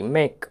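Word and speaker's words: make: এক্ষেত্রে কে এর জন্য ক হয়েছে আর ইংরেজি ওয়ার্ড এসে যদি ই থাকে সেটি সাইলেন্ট থাকে তাহলে ম এ সমান মে আর কেতে ক এম এ কেই মেক মেক মানে হল তৈরি করা তারপরের উদাহরণটা দেখো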